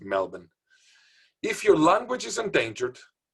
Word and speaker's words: Melbourne: Some Americans pronounce it Melbourne, but actually it's Melbourne. No R, pronounced Melbourne.